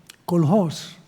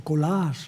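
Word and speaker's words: Koolhaas: El mismo Colhos o Colaas, no sé cómo lo pronuncian ustedes. ¿Cómo lo pronuncian? Tú que eres un maestro. ¿Cómo? Colas. Colhas, vale, ellos lo dicen colhos, pero bueno.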